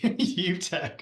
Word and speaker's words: Utek: Well, thank you, and thank you for reminding me your last name is pronounced exactly like it should be. Utek.